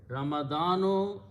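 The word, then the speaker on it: رمضان: by adding an alif and a noon and pronouncing as Rama don't know ramadanu is the ninth month of the year lunar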